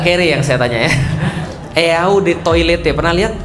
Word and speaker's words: Eau de Toilette: Eau de Toilette, pernah lihat? Eau de Toilette artinya adalah eau de toilet bacanya.